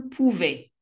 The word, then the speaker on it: pouvait: il, elle, on pouvait, sans le T.